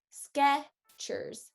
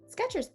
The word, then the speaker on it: Skechers: the e um but in the american accent you want to try and minimize that so this one's actually going to be sketchers sketchers sketchers sketch put